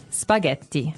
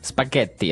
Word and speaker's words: spaghetti: and what about spaghetti spaghetti spaghetti oh you pronounce the Double T as well that's right okay so